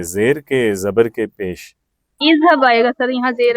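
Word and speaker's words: اِذْهَبْ: اس کا مطلب ہے جو حمزہ ہم خود لگاتے ہیں ہم اس پہ زبر نہیں بولتے، ہم یا زیر بولتے ہیں یا پیش بولتے ہیں.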